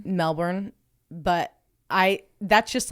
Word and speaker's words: Melbourne: Australia and she'd gone on to us for pronouncing Melbourne wrong how do we say it Melbourne Melbourne but I that's just like the way that